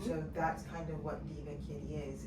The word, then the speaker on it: Diva Kiddie: for your storefront or just in general for Ka Diddy? Like I'm saying that name wrong. It's okay. Diva Kitty.